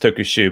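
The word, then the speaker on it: tokusyu: It will be pronounced Tokushu, but it's SYU, right?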